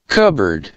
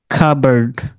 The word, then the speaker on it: cupboard: psychology, pneumonia, pseudo, slash, psychiatrist, raspberry, psalm, cupboard, কাবার্ড।